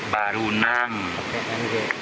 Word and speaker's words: Barunang: Hanya lidah orang lokal sini menyebut Barunang. Barunang. Karena Barunang itu ditulisnya memang Barunang, tetapi dibacanya Baruna, Faruna gitu ya.